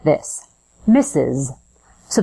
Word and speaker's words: Mrs.: sounds like this Miss misses so the pronunciation is exactly the same as the word misses as in he misses